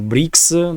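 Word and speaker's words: БРИКС: way L reporter uh brick that's how you say it in Russian uh foreign Ministry reacted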